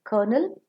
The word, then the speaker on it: colonel: dash is very sweet c-o-l-o-m-e-l kernel is a military header and k-e-r-n-a-l kernel is